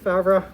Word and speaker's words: Favre: have fabra and i'm horrible at french names so i actually looked that up before coming and i think uh you you're a native or fluent in french so how's my pronunciation it's pretty good favre okay and anyway it's maybe like this something like that but this is a